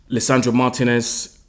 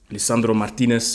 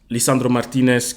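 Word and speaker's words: Lisandro Martínez: for last don't worry Leandro Martinez Lisandro Martinez sorry let me not butcher his name let me say it correctly um Lisandro Martinez came back on onto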